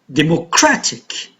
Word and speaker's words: democratic: Democratic, suffix ic, here the stress is on the syllable just before, so tra.